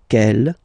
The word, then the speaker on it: quelle: And the good news is that you will pronounce them the same way. Alright, so quel, quelle, quel, and quelle.